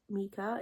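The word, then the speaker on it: Meka: I think you say her name is Mika, it's spelled M-E-K-A, and she lives in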